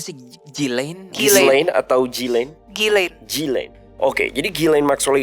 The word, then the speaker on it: Ghislaine: Bacanya gimana sih? Ghislaine? Ghislaine atau Ghislaine? Ghislaine.